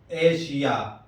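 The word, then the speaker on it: Asia: سے ہوتا ہے، جیسے ایشیا، ایشیا، دیکھیے یہاں ایس آیا ہے اس کے بعد آئی اے ہے۔ اسی طرح رشیا، رشیا،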